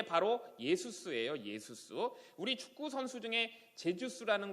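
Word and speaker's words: Ἰησοῦς: 그리고 또 이제 신약 성경으로 넘어가 보면요, 이 여호수아가 예수아로 바뀌었다가 완전 헬라식 발음으로 변한 게 바로 예수스예요. 예수스.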